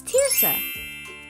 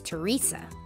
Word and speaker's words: Terysa: hi my name is tirsa most people think that my name is Teresa but it's actually pronounced like tear like teardrop dancer I am super